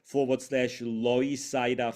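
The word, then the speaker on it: Loisaida: um page uh which is link t ./ loida Fest loida is the Spanish word for l Lower East Side it's spelled l o i s a i d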